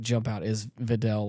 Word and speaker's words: Videl: know I knew of the character is it Videl yes Fidel okay I want to make sure I was pronouncing it right and and wait am I